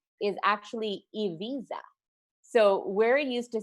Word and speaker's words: Ibiza: Guys, so for special segment, I have some fun facts, and I thought we should learn a little bit more about Ibiza itself, since this is exactly where the show is taking place.